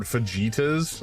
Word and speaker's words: fajitas: It's pronounced fajitas.